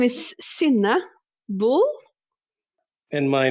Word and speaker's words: Synne: both please pronounce your names correctly for me? Okay. So my name is Synne Bull.